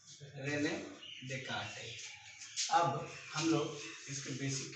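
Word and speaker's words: Descartes: S silent रहता है तो रेने डेस्कार्टेस आप इसको पढ़ते हैं। ठीक है, रेने डेस्कार्टेस।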